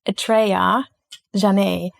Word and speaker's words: Atrayah Janhe: I have to look into my notes to pronounce the beautiful name. Welcome to the podcast Atreja Jonai.